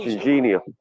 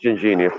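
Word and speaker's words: Ginjinha: It's called Gingenia. You're pronouncing it wrong.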